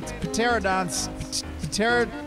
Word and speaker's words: Pterodon: I've already made a saddle, and I've made a pterodon saddle just in case. Pterodon in the air. It's a silent T or P.